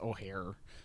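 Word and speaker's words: Ojer: It's pronounced O'Hare because it's like Spanish, but O'Hare Castlum, Deepest Growth, with Surrak Huntcaller as the Pride partner.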